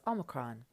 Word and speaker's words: omicron: So Omicron is going to be aw as in bought.